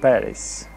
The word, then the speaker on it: Paris: en parís observa que el acento en el nombre parís en inglés cambia y se dice parís tiene el acento la primera sílaba i want to paris que todas las pintó